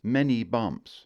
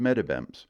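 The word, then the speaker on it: Meddybemps: reason is is because I've called it wrong my whole life and that is many bumps that's what locals call it mini bumps the real town is called metabems and it's right over there in Washington County you will find slight variations here about but medibents it is now I honestly don't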